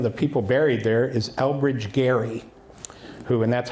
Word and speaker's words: Elbridge Gerry: So one of the people buried there is Elbridge Gerry, and that's how you pronounced his name, and he was a signer